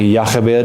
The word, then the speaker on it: Jochebed: like a kind of, we would do like maybe a Y, like a ya, like where in Spanish it's more of an H, like a ha. There's more like a ya, like Yachabed.